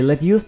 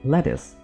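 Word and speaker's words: lettuce: ना के कुकुंबर जी ये लेट्यूस नहीं है यानी सलाद के पत्ते इसको हम लेट्यूस नहीं बोलते हम इसको बोलेंगे लेटस क्या बोलेंगे लेटस टमाटर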